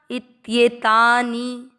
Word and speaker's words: इत्येतानि: इसके बाद में ई के साथ आधा त, ये को दीर्घ किया, इत्येतानी। जपे, ज में अ का उच्चारण मिक्स, पे को दीर्घ, जपे।